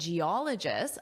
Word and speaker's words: geologist: A team of engineers and geologists. Ah, where is that syllable stress? Well, you know, right? Geologist. Geologist. So, that's where our syllable stress is.